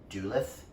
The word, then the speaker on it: Duluth: and lives on a reservation colin arrives in duluth that's how you pronounce that town dude lives with his loyal